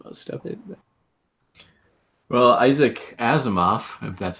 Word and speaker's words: Asimov: scientist yeah you can predict just be wrong on most of it well Isaac Asimov that's how you say his name and a